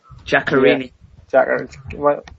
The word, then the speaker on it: Giaccherini: They brought in Ganarici from, or how do you say his name? Giaccherini.